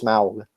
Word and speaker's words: Smaug: pronunciation guide and it is supposed to be pronounced Smaug I don't really like that very much I